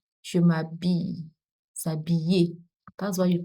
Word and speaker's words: s'habiller: Not Bill. It's not Bill. It's not Bill. I think I've mentioned this before. I-L and I-double-L in French are pronounced I. Je m'habille. S'habiller.